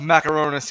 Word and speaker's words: Macarenas: Welcome to the studio, Macarenas. Yeah. That's my whoop whoop to Freddie. So that's pronounced Macaronis, even though we've known each other for 16 years.